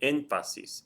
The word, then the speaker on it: énfasis: The word énfasis. Énfasis is énfasis. It's 3 syllables. The stress is over the E, which is the third or more back. There's going to be a written accent mark there.